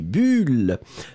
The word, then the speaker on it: bulle: Vous soufflez et il y a des bulles. Donc, on va le faire ensemble encore une fois. On y va. Le premier, U, bulle. Et le deuxième, ou, boule. Premier, bulle. Deuxième, boule.